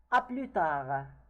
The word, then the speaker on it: à plus tard: We know that the S already and the T, if they are not followed by a vowel, it is not pronounced.